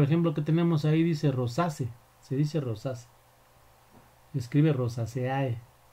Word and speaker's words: Rosaceae: y se debe pronunciar rosas aunque se escribe rosaceae nos haya usados con